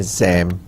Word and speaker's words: XAMPP: Working with XAMPP, और मैंने आपको बताया कि इसको कहते हैं XAMPP. ठीक है, तो इट is pronounced as XAMPP or is a small and